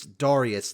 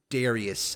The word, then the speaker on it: Darius: And yes, it's Darius, not Darius. I know that a lot of people pronounce him Darius. I don't get that. It sounds weird.